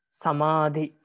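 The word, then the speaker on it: samādhi: In jagana, the middle one is heavy, like in samadhi. You see, middle syllable is heavy and the other two are light.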